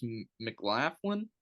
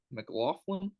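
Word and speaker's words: McLaughlin: his first name but his last name is mlin mlin but it's spelled like Mick Laughin so um that guy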